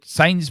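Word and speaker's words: Sané: He said Sane's been offered rumoredly been offered a 4-year contract.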